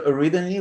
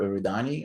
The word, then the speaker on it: Eridani: it exactly right yeah it's either arrhythmia which is my preferred pronunciation but nobody knows that or iridani i'm fine with either so a rhythmist crown